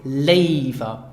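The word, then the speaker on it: léiwer: over another by using the expression Laver so pronounce it Laver labor is an adverb so it can only be used in tandem with a verb so you have the construction verb + Leyva Leyva is the comparative form of gear so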